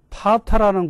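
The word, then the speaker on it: Patra: 안드레가 진 십자가를 보고 있는데 그리스에 가면은 파타라는 곳이 있습니다. 영어로 스펠링은 P-A-T-R-A 파타라.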